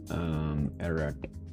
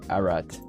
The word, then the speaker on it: Ararat: Ararat. How do you pronounce this, by the way? Ararat.